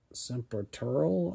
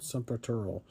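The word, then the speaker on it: Sempiternal: me the horizon and serural I think is how you say that. Uh, S E M Tural Saturural. I think that's how you pronounce it.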